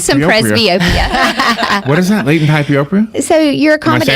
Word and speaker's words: hyperopia: Latent hyperopia?